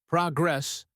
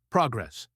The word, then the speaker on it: progress: Pronunciation tip, progress, stress on the first syllable. Now repeat progress.